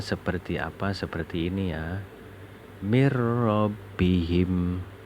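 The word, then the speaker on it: مِنْ رَبِّهِمْ: Mir rabbihim. Bacanya harus seperti itu. Jadi tidak boleh dibaca min rabbihim, itu tidak boleh. Harus dibaca mir rabbihim.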